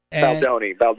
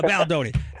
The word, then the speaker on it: Baldoni: Baldoni, I should pronounce it correctly. Baldoni, no worries. Yeah, Baldoni.